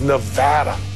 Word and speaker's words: Nevada: People mispronounce our state name all the time. You get the Nevada, Nevada. But it's like potato or patata. It's kind of like tomato and tomato. It is Nevada. Nevada.